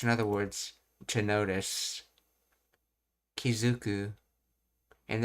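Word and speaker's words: 気付く: so, mind, attach, in other words, to notice, Kizuku, and it's pronounced as Zu because of the 10-10 rule when attaching things.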